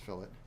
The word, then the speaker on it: fillet: have the fillet also called the fillet that's pronounced fillet and that is the radius at the end